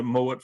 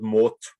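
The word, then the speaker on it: Mowat: a part of the moet family in scotland which didn't actually pronounce their name moet but mort uh and the the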